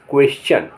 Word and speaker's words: question: यदि शब्द में एस के बाद TION आए या टी के बाद URE आए तो टी का उच्चारण चा होता है। जैसे QUESTION क्वेश्चन, क्वेश्चन माने प्रश्न।